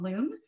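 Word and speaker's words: Luum: a new textile company called loom which is spelled l-u-u-m which is for technion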